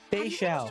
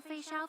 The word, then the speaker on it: Fei Xiao: Fei Xiao. Your health consultation with Chat, we Dragon finally know how to pronounce her name.